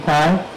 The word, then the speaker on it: Kai: My name is Kai. As you can pronounce K, but it's supposed to be Kai.